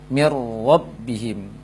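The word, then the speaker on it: مِن رَّبِّهِم: Dan ini nun sukun dimasukkan langsung ke dalam ro, mir rabbihim, sehingga nunnya total hilang. Nunnya total hilang dan dibaca ro yang bertasydid, mir rabbihim sebagai contoh, mir rabbihim.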